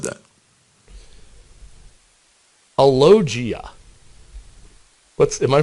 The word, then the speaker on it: alogia: for a lot of them that said that alogia what's am I pronouncing that right yeah alogia is not talking diminish speech output right talking